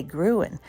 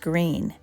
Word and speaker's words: Gruene: difficult not to say gruin but it is pronounced green the town is named